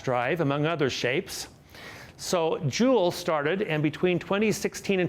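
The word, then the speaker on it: Juul: one that came out called Joule and we spell it Ju ul and it came out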